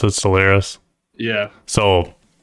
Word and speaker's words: Stellaris: That's how you pronounce it, Stellaris.